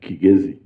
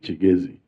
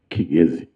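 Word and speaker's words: Kigezi: the Kigazi sub region, by the way, it's pronounced kazi, but because of Chiganda influence, because in Chaganda Ki is pronounced as chi, many people now call it chigzi. But the proper pronunciation is kazi.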